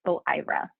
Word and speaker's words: OIRA: information and Regulatory Affairs which we pronounce as o IRA so in this role